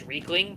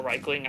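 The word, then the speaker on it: Riekling: So it's like, they got multiple valid pronunciations. I use Reichling. Really. I use Reichling because that's the Germanic pronunciation of how that would be spelled.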